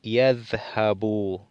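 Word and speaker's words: يذهبوا: Entonces, para saber de que está afectado en este caso por la partícula an, se le quita la nun y se le coloca esta alef que no se lee.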